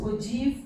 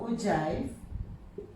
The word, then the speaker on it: ogive: Either it can be pronounced as ogive or ogive.